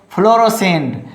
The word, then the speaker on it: fluorescent: Now next, fluorescent. Here is SC. So only you will pronounce S. Don't pronounce C.